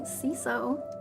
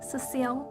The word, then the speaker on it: Cecile: slide i know that some people call me cso but my name is pronounced cecile um i'm kind of